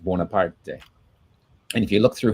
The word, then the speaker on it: Bonaparte: So now later on, of course, he became Napoleon Bonaparte, but originally it would have been pronounced Bonaparte.